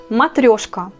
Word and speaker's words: matrioshka: Matrioshka, matrioshka. L'accent on met sur la deuxième syllabe. Ça fait matrioshka.